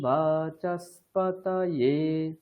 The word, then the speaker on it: বাচস্পতয়ে: এখানে খেয়াল রাখতে হবে, বাচস্পত তকারের উপরে রয়েছে আর ইয়ে এটা নিচে আছে, তাহলে দুটোই স্পষ্ট ভাবে আসবে। কিরকম? বাচস্পতয়ে, ত ইয়ে, ত উপরে ইয়ে নিচে।